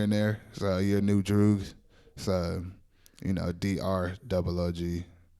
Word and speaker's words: Droog: So your new Droogs. So, DROOG. It's like kind of pronounced Droog.